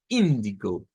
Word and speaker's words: Indigo: Que la pronunciación es la que cambia, recuérdense. Indigo, porque la sílaba tónica está al principio.